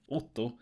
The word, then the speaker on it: Otto: For example, if I say my name, Otto, usually an American, for example, don't understand which vowels I'm using.